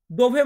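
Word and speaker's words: di: দোভে মানে কোথায়, লা মিয়া চেনা আমার ডিনার বা আমার খাবার। তারপরে কি আছে ডি। আমরা ইংরেজিতে বলি ডি, এটাকে উচ্চারণ করি, বাট ইতালিয়ান বর্ণমালাতে আমরা এটাকে উচ্চারণ করব দি।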